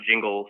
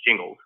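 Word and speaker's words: Gingles: dilution uh and by the way it is pronounced jingles we actually had to look this up because i didn't know if it was jingles or jingles but it's jingles um the quote here i think is important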